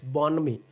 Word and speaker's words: bonhomie: How do you pronounce the word bonhomie? It's bonhomie.